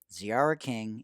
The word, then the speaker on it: Tziarra King: ciara king that's t-z-i-a-r-r-a-k-i-n-g the t is silent at zra king and on twitter at ziara now back to the interview with women's professional soccer player for the utah royals football club ziara king in the sports deli